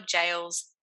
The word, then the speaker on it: gaol: Quickly, though, here in Australia, we spell jails this way. I know it's quite odd, but it's spelled Gaols. So when you see that word, we mean jail.